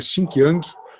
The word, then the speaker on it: Xinjiang: região aqui no Xinjiang, está escrito aqui com X, tá? Mas a pronúncia nossa seria Xinjiang, uma região que é uma bacia de reservas de gás.